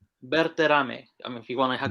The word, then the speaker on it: Berterame: Bertame. I if you want to go with the Spanish, you know, if you want to go Bertoame.